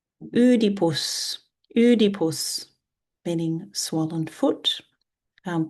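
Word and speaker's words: Οἰδίπους: Her father in ancient Greek is udipus.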